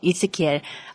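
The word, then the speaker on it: Ezekiel: 그런 취지로 이스키엘, 에스겔의 영어 발음이 이스키엘이에요.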